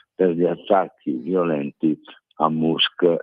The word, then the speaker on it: Musk: gli attacchi violenti a musk e a poi si pronuncia Mask mi pare sì CTO e e